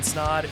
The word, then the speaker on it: Snod: My name is Snod. It rhymes with odd, and you're listening and watching the Rhymes with Odd podcast.